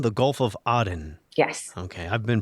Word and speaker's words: Aden: terrorism problem here too send us money you pronounce that oddin the gulf of aden yes okay i've been pronouncing it wrongly for